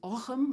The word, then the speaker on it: Ogham: So the early medieval one is Ogham with a R sound, or the modern pronunciation is Ogham. Take your pick, we don't mind. We won't even flinch if you call it Ogham.